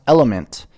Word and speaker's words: LMNT: LMNT, pronounced Element, is a tasty electrolyte drink mix with everything you need and nothing you don't.